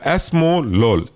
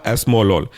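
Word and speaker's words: esmolol: के बनेगा बसो प्रोलोल नेक्स्ट एग्जांपल है आपका एस्मोलोल स्पेलिंग है एस्म ई एस एम ओ एस्म और लॉल एल ओ एल बनेगा आपका एस्मोलोल तीसरा और फाइनल क्लासिफिकेशन है थर्ड जनरेशन का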